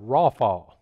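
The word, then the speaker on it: רפה: In English it would be R-A-P-A. In Hebrew it would be pronounced rawfall. Can you all say that? Rawfall.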